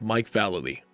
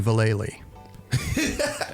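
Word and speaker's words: Vallely: shred and last but not least arrive with Mike Valerie and yes that's how you pronounce his name Mike valid um what would you have done to me if I called you valely nothing nothing okay I have to sometimes reference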